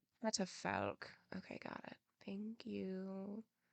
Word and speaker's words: catafalque: In the middle of the courtyard, a catafalque rose some 2 varas off the ground, entirely covered by a very large canopy of black velvet.